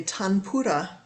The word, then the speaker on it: tanpura: Christina about this instrument this is called a tanpura t-a-n-p-u-r-a it's one way to spell it it is an Indian classical Indian drone